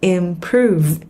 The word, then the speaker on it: improve: Động từ improve nhấn âm 2 mang nghĩa là cải thiện.